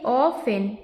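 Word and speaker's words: often: से ऑफ और इसमें य जो य क्या है साइलेंट वर्ड है साइलेंट है ओके ऑफेन इसको क्या पढ़ेंगे ऑ फन तो क्या हो जाएगा ये ऑ फेन ऑफेन वी आई एस आई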